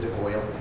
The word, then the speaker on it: de Bois: So the writer is actually named Simon de Bois, although I'm pronouncing it the French way. He pronounces it de Boyle. And it's just hard for me to say that, being from Canada.